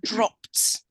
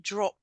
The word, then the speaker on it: dropped: Just this word dropped. So you don't pronounce the E. Dropped. Dropped.